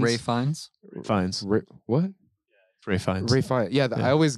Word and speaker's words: Ralph Fiennes: Ralph Fiennes. Ray Fiennes. Ray Fiennes. Yeah, I always get mixed up. I say Ralph Fiennes too. Okay. He's posh, so you don't pronounce the LPH.